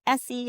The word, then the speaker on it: Essie: And when she had said easy, I was like, "Huh?" And I was like, "Oh, in her defense, like the I can't say my name correctly in the first place normally anyway, so it's fine anyway." And I'm just like, "Essie."